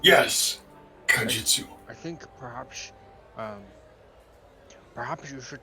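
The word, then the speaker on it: Kaijitsu: Kajutsu. Yes, Kajitsu.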